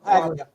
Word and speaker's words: Paglia: Um, Anthony, how do you pronounce his last? Paglia.